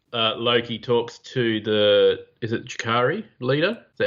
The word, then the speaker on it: Chitauri: So when Loki talks to is it Chitauri leader? Is that how you say it? Chitauri, yeah.